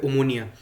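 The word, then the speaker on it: Ομόνοια: मैंने कल मैच देखा था, यूनाइटेड वर्सेस आई थिंक ओमोनिया नाम है, जो प्रोनाउंसिएशन है क्लब का वो है ओमोनिया, ठीक है।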